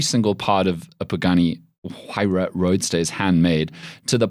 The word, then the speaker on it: Huayra: The Pagani Huayra. Is that how the Italians say it? That's how everyone says it. That is how Horatio Pagani says it.